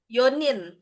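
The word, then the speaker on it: 四人: oh kalau empat nih empat kan yang kita tahu ada dua cara pengucapannya yong ee yong sama si ya kan nah di sini dia pakainya yo doang gitu heeh apa yonin heeh heeh sama kayak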